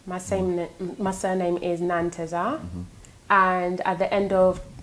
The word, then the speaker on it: Nanteza: else it's like interesting to hear how you pronounce it azitik what came from my surname my same my surname is nantesa and at the end of nantes are there's